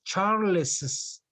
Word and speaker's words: Charles's: suggestion yes charles yes i use apostrophe s and i pronounce charles's charles charles's office the name of the